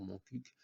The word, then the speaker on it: Montcuq: Je prononce à la lautoise pour Montcuq, et non comme un commentateur du Tour de France ou un animateur de la caravane publicitaire.